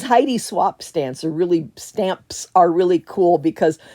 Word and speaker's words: Heidi Swap: These Heidi Swamp, not swamp. These Heidi Swap stamps are really cool because the rings are actually magnetic and you could attach them to the stamp.